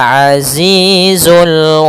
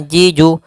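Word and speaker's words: عزيز: Kemudian ee pada lafal di sini huruf zai harus jelas. Jangan ajiju, jangan juga aziju. Nah, misal seperti itu. Tapi harus dengan jelas zainya za zi alazizu wahuwal azizul gfur.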